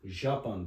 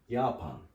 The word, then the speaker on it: Japan: Aslında yot diye okunur Ama J başta olduğunda y gibi okunur Mesela şöyle diyelim yapan Japonya şimdi bu j harfi biz okusak nasıl okuruz Japan deriz ama öyle değil J yot dedim ya Y gibi okunuyor ypan Japonya bunu öyle düşünelim